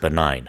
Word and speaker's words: benign: you would, is it benign? Exactly. Right. How do you spell benign? Benign is BENIGN, so a little bit tricky with the G in there. Exactly. You don't pronounce the G.